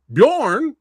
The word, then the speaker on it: Bjorn: We got Bejorn. Hey, I said it right. I said it right this time.